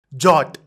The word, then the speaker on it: JWT: jot oh this jot JWT stands for Json web token in short we call it as jot because it is easier to pronounce so we'll say jot